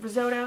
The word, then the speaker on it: Risotto: Is it risotto? How do you say? Is it risotto? Risotto. Risotto. Cool. Like risotto.